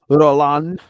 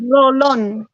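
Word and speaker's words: Rolón: You no, Miss Roland. That's how you say it. Roland. Roland. Rolon. Roland. Roll on. Rolon. You gotta let the R roll.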